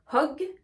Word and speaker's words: hug: Je ne dis pas hug, hug. Je dis hug, hug. Vous entendez bien que je prends ma respiration pour pouvoir prononcer la lettre H.